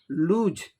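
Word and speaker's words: lose: अब एक दूसरा वर्ड लूज, यहाँ जॉ का उच्चारण होगा, लूज।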